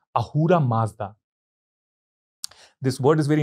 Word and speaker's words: Ahura: is very interesting because ahura comes from Asura the same root in Persian the word s could not be pronounced and it was replaced by H everywhere so Asura becomes ahura that means you can